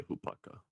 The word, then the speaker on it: hopaka: for ease I can't I'm not sure if I'm saying it right when I say hopaka it sounds like swallowing you're doing it correctly objective Audi is currently